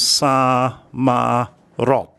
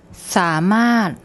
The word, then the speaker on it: สามารถ: So if I didn't know this word, I would probably think it was sa, ma, rot. But it's not. I'll get Pom to pronounce it for you. สามารถ สามารถ สามารถ It means